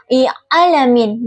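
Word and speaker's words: العالمين: Adapun kesalahan yang sering terjadi ee seperti pengucapan ain yang tidak ada getaran tenggorokan sehingga terdengar seperti alamin. Contoh bacaan yang benar itu yaitu alamin dengan ain yang memiliki getaran jelas.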